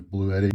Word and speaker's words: Bluetti: new year so far I've heard the pronunciation is blue Eddie but heard the actual manufacturer pronounced it Bluey so I guess we're going to go with Bluey however I don't think